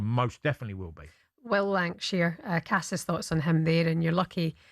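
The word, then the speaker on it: Lankshear: on him there and you're lucky he pronounced his name correctly because for the first half hour this morning in the office he called him Will Lang Shank the boy you know the fellow Lank Shank.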